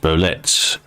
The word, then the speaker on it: Bolette: your horns smelly dashan says ble is not pronounced ble it's pronounced bolet if it was ble in French it would